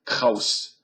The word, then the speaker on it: Krauss: This is Krauss speaking again or Krauss, however you pronounces that Kaus Kaus would be the German pronunciation or Krauss.